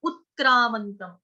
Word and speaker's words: उत्क्रामन्तं: उत्क्रामंतम, उ छोटा उ है, उत उसके साथ क्या है? आधा क्रामंतम। त, उत्क्रामंतम।